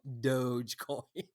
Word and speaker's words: Dogecoin: hour it turns out it is called dogecoin yes and this um but i still like to say doggy coin because it looks like it's dog i mean it's